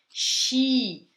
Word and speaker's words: sci: Atenção à pronúncia do sci. SC tem som de X. Xi in montagna, tá?